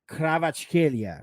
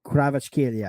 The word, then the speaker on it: Kvaratskhelia: Now, yes, Kvaratskhelia, right? Kvaratskhelia. I think that's how we're pronouncing it.